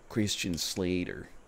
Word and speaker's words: Christian Slater: someone's gotta get to say his name right christian slater there you go it's okay i watched it